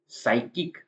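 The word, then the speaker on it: psychic: होता है रसीद और साइकिक साइकिक मतलब होता है मानसिक तो वहां पर पी का साउंड नहीं आ रहा है नेक्स्ट है एस का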